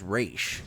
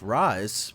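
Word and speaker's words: Ra's: No, but um I feel like it's more threatening as RA, but I understand if it's pronounced Raz, but but like it's like another reason why I like the like it being Raz is because it sounds like Rise and he rises out of the Lazarus pit.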